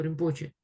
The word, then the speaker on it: Rinpoche: То есть само по себе слово толку звучит более унылым, чем слово римпоче. Потому что римпоче, и мы там, последний у нас слог, он как бы на восходящий идет. Римпоче.